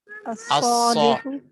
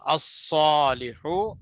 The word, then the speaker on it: الصالح: اور الصالح میں لام کو نہیں پڑھ رہے ہیں، لام سائلنٹ ہے وہاں، مطلب ہوا ہے کس میں؟